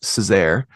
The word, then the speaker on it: Sezer: Yeah, my last name is pronounced Sezer. It's My Turkish.